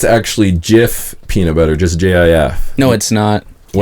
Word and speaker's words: Jif: Like GIF, but with a J. Pronounced Jif.